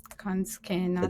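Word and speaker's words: Kansuke: called Tea Teadata Kanske that's how it's how it's pronounced in Japanese and it's a story about Buddha's uh older brother I will back.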